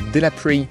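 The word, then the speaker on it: Delapré: Et là, je viens d'arriver à la Delaprey, pour la prononcer à l'anglaise, abbaye, qui est une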